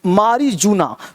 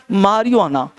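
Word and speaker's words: marijuana: क्या होता है भाई, मारियुआना। तो मारियुआना, तो मारियो, ये जे को ना मारियुआना, यू यहाँ से पढ़ना युआना, ये पढ़ना मारी, तो जे को चुप रख लो।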